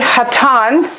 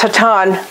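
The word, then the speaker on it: חתן: And that's the word hatan. And we studied this back in around Sukkot, I think. Father-in-law, hatan. Here it's spelled a het, a tet, and a final noon.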